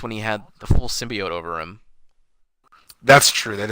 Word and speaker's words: symbiote: In the actual movie, they say it right. They say symbiote.